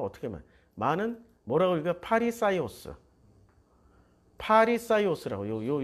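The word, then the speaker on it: Φαρισαῖος: 자, 여기다 여기 아이오스를 붙이면 파리사이오스가 되는 거지.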